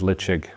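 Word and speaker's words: Ledaig: catches many people out it's leig it's not leig or leig as Kelly says the pronunciation is leig the name means Safe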